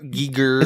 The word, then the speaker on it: Giger: yeah EXA Giger ARR Giger is how do you how do you pronounce that Giger G I think it's gerer like the gerer scale right gerer counter I don't think gerer